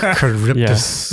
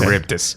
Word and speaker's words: Charybdis: It's hard to pronounce. Yeah. Charybdis. Okay. Charybdis, yeah.